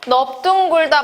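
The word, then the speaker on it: 넓둥글다: 넙둥굴다 마찬가지로 리을 비읍이지만 비읍이 남게 됩니다.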